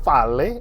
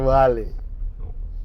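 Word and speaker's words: valet: Sebenarnya itu vale atau wale? Vale. Vale, Vale. bukan wale. Hanya Vale.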